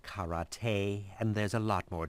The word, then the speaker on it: karate: Actually, it's pronounced karate, and there's a lot more to it than just kicking each other.